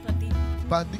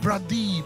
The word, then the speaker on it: Pradeep: Not a girl, but my husband is Pradeep. What? Pradeep. Pradeep. Pradeep. How do you spell that? P-R-A-D-E-E-P. Pradeep, Pradeep, Pradeep, Pradeep. I was hearing Priya. It's not Priya, it's Pradeep.